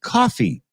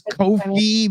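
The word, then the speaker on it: Ko-fi: It turns out that they actually meant it to be pronounced coffee. They're literally just playing on buy me a coffee, right?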